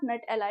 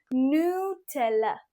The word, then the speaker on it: Nutella: नट एला this is something like a nick name for your best friend no this is नॉट नट एला इट इज़ नला नला नाउ ये अब कितना इंपॉर्टेंट तो है